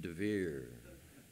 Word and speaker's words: Dever: Did you notice that in Professor Assmann's fifth plague, in Hebrew it's dever? In Israel, I add a yud and pronounce it devir, Professor Holy of Holies.